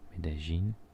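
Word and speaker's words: Medellín: A Colombian would pronounce this with the J. Medellin, Cali, and very famously Barranquilla.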